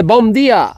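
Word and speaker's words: Bom dia: gaviota aquella es Portugal sí día se dice Bom día Bom no bía bom bom b o m Ah Bom día bueno a lo mejor se pronuncia como has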